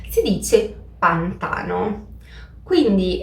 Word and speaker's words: pantano: Ad esempio, da brasiliana per me sarebbe molto naturale dire pantano, perché in portoghese abbiamo la stessa parola e la pronuncia è pantano. Ma in realtà in italiano non si dice pantano, si dice pantano.